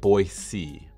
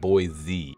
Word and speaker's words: Boise: I'm saying it wrong it should be said boy C boy C boy like a boy sees not boy Z but for whatever reason